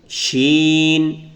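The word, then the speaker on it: ش: Scene, শিন, scene, শিন। আমরা শিন শিখেছি, উপরে 3 নক্তা, দাঁত থাকবে 3 নক্তা থাকবে, তাহলে সে শিন।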